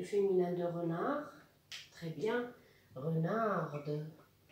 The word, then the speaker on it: renarde: Renarde. وهنا لازم ندير ملاحظة باللي لا كونسون اللي كانت ميات في الماسكولين تنطق في الفيمينا لأنه زدنا لها الأو. دونك كان renard كان حرف صامت يرجع renarde يولي ينطق.